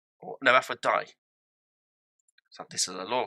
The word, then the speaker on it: Aphrodite: It is Aphrodite. No, Aphrodite. So this is a law question, and she's kind of pronounced it out.